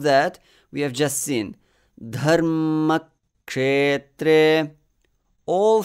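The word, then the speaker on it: धर्मक्षेत्रे: I sort of hanged on that M before the release. Dharma. And then cut the next syllable, ma. Dharma. And inserted a one matra pause and continued. Dharma kshetre.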